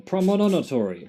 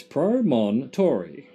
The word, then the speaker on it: promontory: __ ] word promontory i kept adding another syllable promodonatory primono monomonatory it's pro mon tori promontory anyway that's where we're